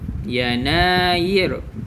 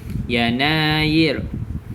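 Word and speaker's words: يناير: okey yang pertama Januari yanair Ok tengok ada huruf mad kita panjangkan nada dia yanair ok Februari februir Mar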